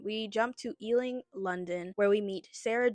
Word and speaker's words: Ealing: Then we jump to, I believe it's pronounced Elling. Sorry, I'll just say Ealing. I'm sorry if that's the wrong pronunciation. We jump to Ealing, London, where we meet Sarah Jane, Luke, and Mr.